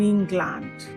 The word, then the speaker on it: England: However, the L A N D in these words is not pronounced as land. The letter A in that word land takes the uh uh the schwa sound. So we go learned learned and not land.